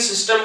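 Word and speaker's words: tsetse: सीसी फ्लाई में T silent होता है, तो सीसी फ्लाई।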